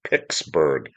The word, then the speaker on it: Pittsburgh: It sounded like a p I c ks. Pixsburg. And she goes, "Yeah, that's what it sounds like. It doesn't sound like pits."